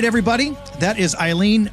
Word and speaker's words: Ayline: So maybe now everyone will remember it's Ayline, pronounced Ayline, Ayline, which is.